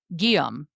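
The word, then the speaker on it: Guillaume: And so many different pronunciations of William is what I'm learning because our next heir is Guom. Gum. It's spelled Gu U I L L A U M E.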